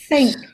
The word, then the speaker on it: think: So, it's like, for example, you pronounce the TH. It's it's like when you say I think. So you should have that sound think, not Okay.